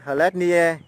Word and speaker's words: Hlet Nie: gọi là mình đọc là Hlet. Yeah. Hlet. À. Nie. Nie, Hlet Nie. Yeah. À rồi. Bà là Hlet Nie ở Buôn Cốp.